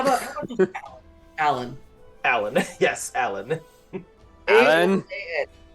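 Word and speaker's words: A'lan': We put an apostrophe, but nobody pronounces it. It's A''Lan, but people just say Alan.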